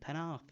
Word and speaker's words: Penarth: Good pronunciation, Penarth.